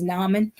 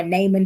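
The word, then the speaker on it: Naaman: Um, another example of someone who really dealt with disappointment was Nammon or Non depending on kind of how you've heard that pronounced.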